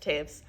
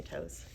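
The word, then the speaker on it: Toews: Okay, Taves. Good thing I didn't say toes.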